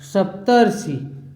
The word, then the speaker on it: सप्तर्षि: र मिल रहा है, तो ये क्या हो जाएगा अर आएगा उच्चारण में, तो संधि इसका क्या होगा सप्तर्षि। आप बोलने का प्रयास करेंगे तो उच्चारण में जो है अर आएगा सप्तर्षि।